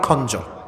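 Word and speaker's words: خنجر: ব্যবসা করি চাকুর ব্যবসা এটাকে আরবিতে বলা হয় খঞ্জর এটার নাম কি উচ্চারণ করেন সবাই এটার নাম হচ্ছে খঞ্জার নাম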